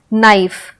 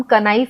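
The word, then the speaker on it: knife: हैं के की तो ऐसे वर्ड्स जहां पे के साइलेंट है जैसे से नाइफ तो नाइफ सुनोगे तो लगेगा कि एन से स्टार्ट हो रहा है नाइफ क्योंकि हम कनाइव तो नहीं बोल रहे हैं के साइलेंट है नाइफ यानी एन का उच्चारण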